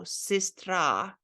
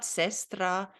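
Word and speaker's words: сестра: And in these two examples, you see the letter E being pronounced more like E, which is in English I, but in Russian you say it like E. So here, normally you would say E like E, but in this case, when there's no emphasis on it, you have to say it more like E. So sistra is a sister, sistra, not sestra, but sistra, okay?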